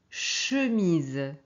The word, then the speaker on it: chemise: Donc ici, mais c'est le son ch, hein, pas tch. On prononce chemise, ok?